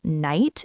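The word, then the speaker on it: knight: I remember looking at the word night and thinking, "Why is there a K there? You don't even say it."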